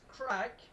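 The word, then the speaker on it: craic: So, uh, there's crack. Uh, I'll put that in chat. Not the not the drug. I'll spell it in chat. So, there's that. That mean that's the Irish word for fun.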